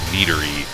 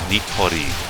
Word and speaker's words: Nitori: accent is very very strongly tempted to pronounce her name as Nery or Nery um like NE d r y Nery something like that but no it's nitori nitori kawashiro and um there's a